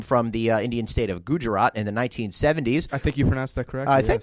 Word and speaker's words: Gujarat: happen to come from the uh state of Gujarat in the 1970s I think you pronounced that correctly I thank you I'm very